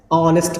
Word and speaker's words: honest: लेकिन जैसे ही HO आया, इसको क्या पढ़ रहे हैं, ऑनेस्ट पढ़ रहे हैं। मतलब इसी HO का प्रोनाउंसिएशन एक बार हो और इसी HO का प्रोनाउंसिएशन एक बार अ के रूप में कर रहे हैं।